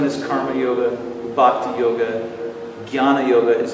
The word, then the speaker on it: jnana: First one is karma yoga, bhakti yoga, jnana yoga is how that's pronounced, and raja yoga.